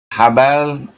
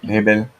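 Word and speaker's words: Jbeil: Habal. Is that how you pronounce that? Habal? Jubel. Yeah, okay. Hebel.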